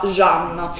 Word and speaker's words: Can: chiamarlo così perché io l'ho sempre chiamato gand ma in realtà e il sogno che si pronuncia jean gialli a man che